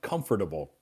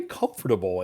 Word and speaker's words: comfortable: Some people Some people will not pronounce the T as the T will be silent.